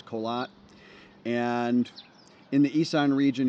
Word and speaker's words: Korat: uh suburbs of the city of Korat which locally we pronounce colat and in the Ean